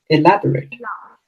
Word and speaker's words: elaborate: Where is the stress? Elaborate, Ela- right? Elaborate. Yes. Let's say if you misplace the stress, then it sounds funny. You say elaborate. No, we don't say that.